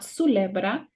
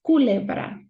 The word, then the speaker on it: culebra: It's not culebra, it's culebra, culebra.